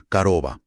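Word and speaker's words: корова: Se pronuncia más como una a corta, por ejemplo, coroba, vaca. Se escribe con dos os, pero se pronuncia algo así como caroba.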